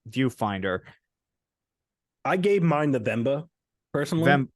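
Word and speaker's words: Venba: cocoon dredge Pizza Tower vimba and viewfinder I gave mine the vmba personally oh vmba sorry I pronounced it wrong although I did hear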